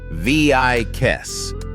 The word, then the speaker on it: Vieques: Number eight brings us back to Puerto Rico's neighbors to a wild and windswept island pronounced Vieques.